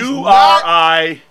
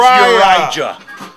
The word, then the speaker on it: Urijah: He's Uriah. That's Uriah. Uriah. Uriah. Like Silent Elijah. J is silent.